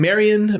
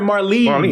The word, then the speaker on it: Marlene: uh almost next year how do you say her name Marion Marion uh that I'm sorry Marlene Mary I'm saying like